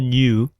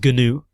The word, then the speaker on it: GNU: It is not a new. It is capital G, capital N, capital U is not a new. It is gnu. If you say new, I'm going to think of the antelope type thing. If you say gnu, I'm going to think of that open software.